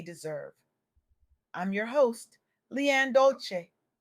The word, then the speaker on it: Dolce: I'm your host, Leanne Dolce. Pronounced dol say, like sweet softness whispered in French.